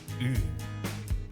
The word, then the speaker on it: ㅡ: First, make the "ㅣ" sound. Keep your lips exactly the same and move only your tongue backward. That's "ㅡ". so it's... Here's another way. Start with "ㅜ" then flatten your lips without changing anything else. That will also get you close to "ㅡ".